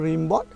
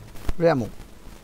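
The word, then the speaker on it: Rimbaud: Asleep in the valley কবিতাটা লিখেছেন Arthur, এমনি আমরা বাংলার মতো করে যদি উচ্চারণ করি তাহলে আর্থার রিমবট, আর এটা আর্থার র্যামো।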